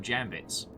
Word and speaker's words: Jambit: that you get from jambits um and yes colin cap you could have died on your sword you didn't have to pass on it's pronounced jam bit you could have just